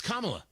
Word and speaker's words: Kamala: they have uh for Kamal maybe uh uh they call her that too by the way I I usually pronounce your name right it's Kamala I and I and I said it wrong right there so my